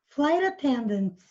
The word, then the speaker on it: flight attendants: É que como o G acaba vindo entre sons de vogais, porque o GH é mudo, né? E o T acaba vindo entre sons de vogais. Então, meio que ele emenda ali fazendo um som de R.